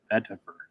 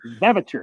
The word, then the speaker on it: vetiver: You're saying Vevitor. You're transposing the T and the V, so it sounds very close.